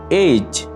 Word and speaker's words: age: Age. এজ, বয়স, আয়ু। এজ, বয়স, আয়ু। এখানে মার্ক করা ই লেটারটি হচ্ছে একটি সাইলেন্ট লেটার।